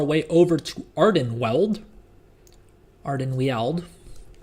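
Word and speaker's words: Ardenweald: over to ardan weld ardan weld is is how I prefer to pronounce it if it's if if it's all the same to to everyone and we got to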